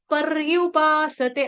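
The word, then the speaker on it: पर्युपासते: मेरे को यहां पे इसको वो पूरा र पढ़ रहे हैं परयुपासते पर यू नहीं है परयुपासते आधा रफार वाला रफार वाला र है ना ये तो आप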